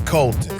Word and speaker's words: Colton: My name is Colton. Colton. Nothing rhymes with Colton. Colton. Michael. Or maybe the word molten. Molten like lava. Or the singer Michael Bolton.